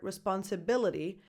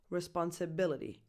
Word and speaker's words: responsibility: you can hear responsibility that t doesn't always sound like a t depending on the speed it can sound more like a soft fast D responsibility ability and also depending on the specific English accent let's see some other